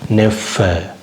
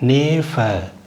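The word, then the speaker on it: Neffe: அண்ணன் மகன் அது மாதிரி நெஃப் அது வந்து இரண்டு எதிர் வரும்போது எப்பொழுதுமே அதுக்கு முன்னாடி இருக்கிற உயிர் எழுத்தை குறில் மாதிரி வச்சிருக்கணும் நேப அப்படி சொல்லக்கூடாது நெஃப் இங்க பாருங்க இப்ப ரெண்டு ஒரே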